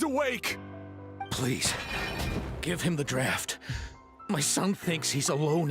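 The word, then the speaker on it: draught: captain's VA that cuz draft as in d a u ght is a very uncommon word so I mean you almost never hear it like pronounced by anybody and in fact I until recently would have thought it was draw instead of draft but uh then I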